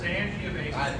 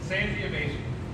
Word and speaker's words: Sangiovese: Sangiovese. I'm Marty worried and if there's a Gervais. backlash, there's probably going to be some. It's actually. That sounds great. Sangiovese.